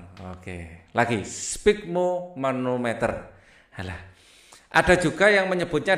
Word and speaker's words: sphygmomanometer: Nah, susah bacanya ya. Sphygmomanometer. Oke, lagi sphygmomanometer.